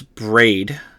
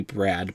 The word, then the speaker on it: Braid: mesmerism fine um so james braid i believe is how you pronounce his name could be brad but it has an eye so i'm gonna go ahead and go with james braid uh named hypnosis